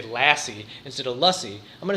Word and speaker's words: lassi: It is not difficult to say lassie.